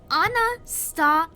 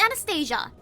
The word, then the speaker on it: Anastasia: It's Anastasia, not Anastasia.